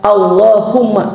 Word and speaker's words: Allahumma: Tapi ketika kita berdoa dalam bahasa Arab etikanya, maka ya-nya itu diganti dengan mim bertasdid dan mimnya ini dikebelakangkan sehingga Allahu tambah mim tasdid dibacanya Allahumma yang artinya apa?